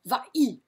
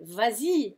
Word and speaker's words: vas-y: It would sound really awful to go va-i, va-i. It doesn't sound good. Vas-y sounds good.